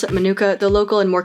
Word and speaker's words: manuka: Although I pronounce it manuka, the local and more correct pronunciation is manuka.